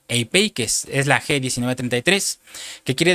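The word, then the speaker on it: ἐπιεικής: Y esta viene de una palabra griega que se pronuncia eipeikes, es la G1933, que quiere decir apacible, suave, y tiene que ver con una mente repleta de paz.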